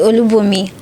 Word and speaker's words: Olubunmi: I don't want to murder your surname, so pronounce it yourself. So, thank you. My name is Olubunmi.